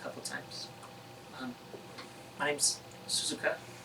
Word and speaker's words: Suzuka: of times my name's suzuka how do you spell that s-u-z-u-k suzuki right suzuka yeah it's wonderful i'm really